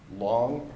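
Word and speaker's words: Luong: the field office in New Orleans for the FBI is going to be Special Agent Ann Long, and that's spelled A-N as the first name, and his last name is L-U-O-N-G.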